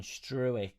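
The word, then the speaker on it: Struijk: Ziggy Jones, the digraph in Struick is pronounced as ow in out.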